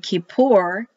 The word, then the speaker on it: Kippur: K-I, which is pronounced like E. P, because the dot now is in there. U-R. Kippur. Kippur. Kippur. Kippur. Kippur. They will roll the R and the K is like ch.